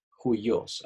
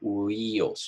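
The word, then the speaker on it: υἱός: Se pronuncia, se pronuncia huyos. Juyos, aunque parece que dijera huyos.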